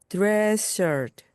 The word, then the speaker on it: dress shirt: 그리고 드레스에서 S, 또한 shirt에서 S가 겹치기 때문에 앞에 있는 S는 발음하지 않습니다. 그래서 dress shirt, dress shirt입니다.